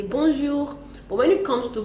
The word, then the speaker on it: bonjour: So do we pronounce the N? Because now it's double N there. And we do one N as we have in bonjour and bonsoir. So how do we pronounce it now? Okay, for B-O-N, when it's bonjour, for the B-O-N, we do not pronounce the N, really. We just nasalize and say bon, and so we say bonjour.